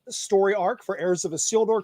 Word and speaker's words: Isildur: Heirs of Isildur. It's like, think about a seal has walked through the door.